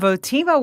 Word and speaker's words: Votiva: Did I pronounce it correct? Yes. Okay, and Votiva, what it is a vaginal rejuvenation or Yes.